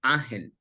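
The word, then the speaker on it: Ángel: In Spanish, it's pronounced Angel. Angel. It doesn't matter, like, because it sounds similar, but my family says Angel in Spanish.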